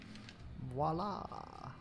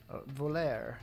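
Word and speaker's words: voilà: Voila. Voler, I guess, is the proper pronunciation of that word.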